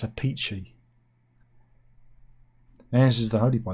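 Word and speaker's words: Appice: Beck Bogart, A Piece. If I drink a lot of coffee, I might have to go for a piece. People say it's not pronounced like that. It's a peachy.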